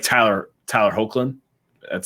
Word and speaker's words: Hoechlin: then they're getting their rid like Tyler Tyler hoechlin that's how you pronounce it yeah and then also Camila Mendes